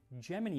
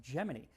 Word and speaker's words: Gemini: But in 196 times did tell us about some foods that were making it into space on the upcoming Gemini mission. And yes, it's pronounced Geminy.